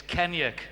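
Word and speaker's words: Kennaugh: Well, K-E-N-N-A-U-G-H, is Kenyuk here on the Isle of Man. That's correct. People call you Kenner, do they get it wrong? Yeah, it is wrong. I mean, I can't even pronounce it the way the Americans say it when I raced over there for a couple of races. Kenner. Kenner, bring Kenner. Completely different here, but that is 100% correct.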